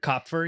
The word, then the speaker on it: Copfer: Is that how you say your last name? Copfer, yeah.